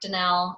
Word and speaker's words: Donnell: to call it my home base Danelle is my name on Facebook it's spelled Donald if I know I hate that